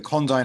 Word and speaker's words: Condign: assigned to it was condyne c-o-n-d-i-g-n but the correct pronunciation of that word in uk english is condyn so first